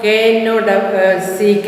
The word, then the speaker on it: knock: Knock, KNOCK. You have to underline the silent word. Write them down and underline the silent words. Knock, K is silent.